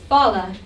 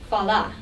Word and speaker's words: fala: Now here again we have a reduced sound when the final A is unstressed. This is called a schwa. So we say fala instead of fala, and igreja instead of igreja.